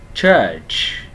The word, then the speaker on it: church: Chờ, church, church. Âm ơ dài kéo chữ ơ dài chứ không phải đọc là church, đúng không ạ?